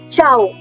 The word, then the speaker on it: ciao: The informal version is ciao. Ciao. Like we say jao in Hindi, just put a ch sound.